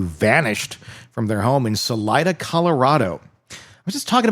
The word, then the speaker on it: Salida: Is it Is it Selena or is it Salena? Salida. S A L I D A. Really? See, I would have totally pronounced it the other way.